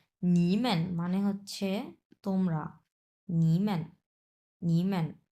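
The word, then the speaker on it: 你们: দেখেন নিমান এইযে মেনে মেনটা হচ্ছে নিউট্রাল টন নি তিন নাম্বার টন মেনটা নিউট্রাল টন স আমরা উচ্চারণ করব এভাবে যে নিম্যান উচ্চারণ করেন নিম্যান মানে হচ্ছে তোমরা নিম্যান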